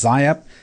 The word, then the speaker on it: XIAP: Turns out to be due to a protein called XIAP. Some people pronounce it as ZIAP.